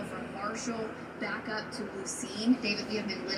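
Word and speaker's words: Lucien: Well, everyone, we apologize and butchered your town name. Lucene, you're right.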